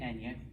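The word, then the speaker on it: año: funny example all right there is in fact a difference between those two words this is pronounced ano okay with the n and it means anus this is so you got the anya this means year okay so um npr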